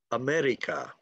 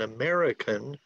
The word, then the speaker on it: America: But that is not the way an American would pronounce the word America. Okay, if you are using the trill R sound and using what is called a flap. Flap is when the tip of your tongue flaps up against your alveolar ridge. Okay, and the alveolar ridge is right behind your upper teeth. Ara, ara, ara, ara, ara. It sounds like that.